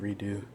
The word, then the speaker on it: Redux: Metro Redux, Redo, I believe it's pronounced Redo, and that's Metro 2033 and Last Light.